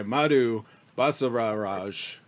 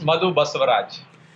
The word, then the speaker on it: Madhu Basavaraj: korkin alla here and I am joined by Madhu bustled Raj I always pronounce your name wrong can you tell me how it's pronounced err yeah it's muddled bus arrives oh that was pretty close call um I